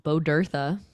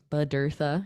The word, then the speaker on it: Bodurtha: My last name is pronounced Bodurtha. Bodurtha. It's Welsh.